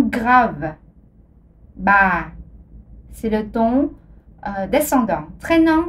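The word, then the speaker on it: bá: Mais si on ajoute l'accent aigu, on le prononce ba, le ton montant. Alors, ba, le ton montant avec l'accent aigu ajouté ici.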